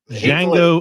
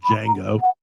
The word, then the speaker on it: Django: I'm going to Tarantino route with Django Unchained. The D is silent. Tarantino loves to pay homage to his favorite films of the past, and there's a 60s Western film called Django.